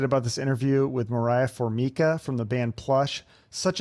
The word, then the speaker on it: Formica: I totally get it it's like the countertop yeah do you correct